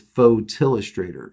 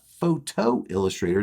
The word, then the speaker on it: Photillustrator: myself and my wife says the name wrong it is photillustrator not photo illustrator now i made a